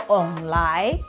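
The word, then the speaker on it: 王梨: The word for pineapple in Taiwanese called onglai. It pronounced almost exactly the same of the phrase prosperity has arrived.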